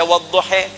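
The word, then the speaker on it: والضحى: Yang enggak bisa baca a pakai e imalah. Jadi wadduha bisa dibaca wadduhe ya.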